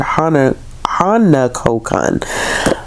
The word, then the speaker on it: Hanako-kun: Toilet Bound Hanako-Kun, and I've been like adding an extra syllable in there. I don't know why, but it's Toilet Bound Hanako-Kun. I'm gonna get this right. It's just this I keep adding an extra NA.